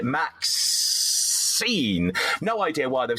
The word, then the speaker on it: MaXXXine: You heard my confusion a moment ago where it's got three X's in the middle, so I would pronounce it MaXXXine.